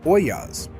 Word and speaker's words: ollas: They called them ollas. That's o l l a s, and it's pronounced oyas.